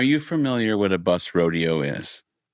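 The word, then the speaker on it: Roadeo: There are no No, it's not a It's not a rodeo. It's spelled R O A D E Oo. Like a rodeo.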